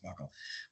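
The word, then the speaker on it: buccal: It's just genetic testing done with a buckle swab, as they call it, BC A, buckle swab. I used to always think it was something other than buckle, but it's apparently pronounced buckle.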